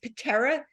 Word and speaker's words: Peterra: It will, because it's spelled pet. The whole idea is Peterra, Peterra, and it's pet and terra kind of combined for pet and earth, because again, our 2